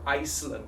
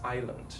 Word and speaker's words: island: on the weekend and i'll always say no no it's island jeju island then we get into a back and forth like why is there an s why is there an s what does that mean i'm like i don't know just ignore the s just say i just